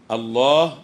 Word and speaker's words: الله: هتبقى هو واخد بالك الكلمه دي بتكتب بخلاف ما تنطق يعني انت لما تنطقها بتقول ايه الله يعني لم الف ومع ذلك هي بتكتب ايه لام لام مش كده ولا ايه